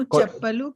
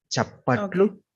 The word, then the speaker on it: చప్పట్లు: Okay, నేను చప్పలు కొట్టాను. Almost correct అండి, but let me correct the pronunciation. Just repeat after me. చప్పట్లు కొట్టను. చప్పట్లు కొట్టను.